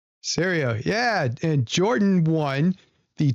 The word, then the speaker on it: Serio: Serio. Serio.